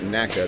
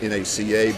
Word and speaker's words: NACA: This one is labeled on the tail NACA. That was the precursor to NASA. They didn't pronounce it NACA. They did pronounce it NACA.